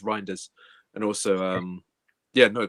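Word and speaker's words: Reijnders: Uh Seymour's also saying, "Rainders, if that's how I say his name, also a no-brainer to get done under 30 million." I mean, so contest. Yeah. Yeah. It's pronounced Rinders.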